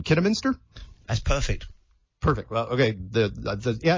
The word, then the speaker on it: Kidderminster: yeah and forgive me if I butcher the pronunciation Kidderminster that's perfect perfect okay yeah and I did